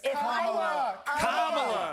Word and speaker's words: Kamala: Holy Let me actually pronounce her name right. Kamala Harris. Kamala.